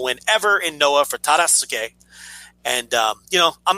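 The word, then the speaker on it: Tadasuke: Terasuke.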